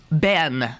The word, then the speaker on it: been: Okay, how do you pronounce the word B-E-E-N? I have there many times. I've been there. No, been. You say bin. Okay. What else would you say? Ben, which I grew up saying.